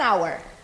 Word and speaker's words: hour: Então, an hour, An hour, an air.